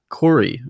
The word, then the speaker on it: Khoury: be us our special guest today is Cory I think I'm pronouncing your last name correctly right yeah you